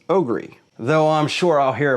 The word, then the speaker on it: OGERY: Now this is one of those Ryobi Ryobi type of deals but in my opinion this is pronounced Ogry.